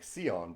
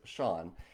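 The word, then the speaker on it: Siôn: is someone's name that spelled s i o n and this is a name that people in America like me often mispronounce as like seone but it is sha and um says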